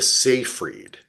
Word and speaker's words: Seyfried: Um, is it It's the other Amanda big-eyed Siegfried? girl. Yeah, Amanda Amanda Siegfried, who is Siegfried? like Love her. the blonde Amanda Seyfried.